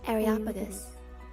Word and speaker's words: Areopagus: Areopagus. Areopagus. Areopagus. Areopagus. Using my headset off. Areopagus.